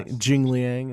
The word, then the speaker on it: Jingliang: Jingliang is how you say Yeah, it. Ji Liang, yeah.